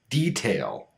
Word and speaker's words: detail: There are, of course, some words that should have the flap T, but don't. Words like military, politics, detail, iTunes. Each of these words have a stressed syllable before the T, but we don't unstress the T.